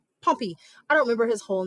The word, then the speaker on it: Pompey: And I've already had kids say, "Are you sure it's not Pompeii?" Yeah. Pompeii is spelled with E-I-I at the end. Pompey. That's Pompey.